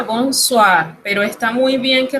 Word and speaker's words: bonsoir: Y se pronuncia bonsoir, pero está muy bien que recuerde el significado.